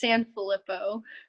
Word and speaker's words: Sanfillippo: Can you Yeah, pronounce that all out for me so I don't mess it up? it's Sanfillippo.